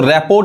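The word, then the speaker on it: rapport: होता है देखिए जैसे इसको रेपो नहीं कहेंगे रेपो पढ़ते हैं रेपो बस यहां तक पढ़ेंगे रेपो ये आर भी नहीं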